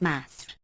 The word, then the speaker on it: Misr: Qutr, track talk water, Misr, vulgarly pronounced Masr.